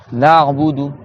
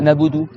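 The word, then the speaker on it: نعبد: Na'budu. Donc na'budu c'est pas nabudu, d'accord? C'est na'budu. Donc tu dois resserrer ici. Tu dis na'budu, na'budu. Na'budu. D'accord? Donc le Rain il sort du milieu de la gorge.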